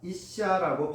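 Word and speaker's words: אִשָּׁה: 여자라는 히브리어 단어가 이샤라고 발음됩니다. 이샤.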